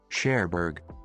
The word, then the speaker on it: Cherbourg: The G is not pronounced. Cherbourg.